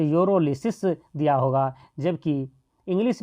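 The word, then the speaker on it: pyrolysis: हिंदी में हो तो यूरोलिसिस दिया होगा, जबकि इंग्लिश में हो तब भी एक्चुअली लिखा तो होगा यूरोलिसिस ही, जबकि उसमें पी साइलेंट होता है।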